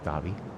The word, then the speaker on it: Abu Dhabi: Abu Dhabi. Fun to say, too. Yeah, it is fun. There's a silent H in it, too. Really? Yeah. Dabby.